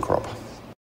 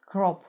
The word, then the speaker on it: crop: Riding – это верховой, crop – урожай, посевная культура, кнут. В британском варианте произносится краткий звук «о». Crop. В американском может произноситься долгий звук «о».